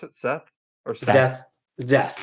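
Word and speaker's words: Szeth: Zeth. Zeth. His name is spelled funny, okay? It's an SZ next to each other, so It's not something you normally see in the English language.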